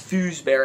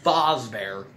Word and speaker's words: Fazbear: thus bear which i realize now that i pronounced fuse bear as f o z b e r b e a r so actually his name is freddy fazbear i've been pronouncing his name wrong this whole